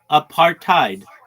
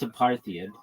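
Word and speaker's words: apartheid: In the future though, people will say it the way that I say it and that's a partheid and or they'll change the writing of it and it'll be a part tide because I guess it's because it's an African's word.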